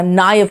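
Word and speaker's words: naive: Next आओ, नाइव, बेटा नेव नहीं कहना, नाइव कहना, है ना?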